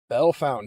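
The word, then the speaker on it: Bellefontaine: Bell Fountain.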